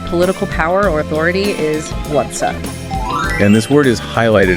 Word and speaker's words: władza: The source material actually tells you to really elongate that first syllable. How so? Like this, Władza.